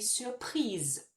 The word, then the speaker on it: surprise: But now with that naked E next to it, it makes us finish on the sound of the letter that comes before it. So I would say, je suis surprise de.